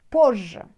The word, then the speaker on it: позже: Maybe like when you pronounce it like double J. Позже. Позже. But you should know that it's two different letters there. Z, J.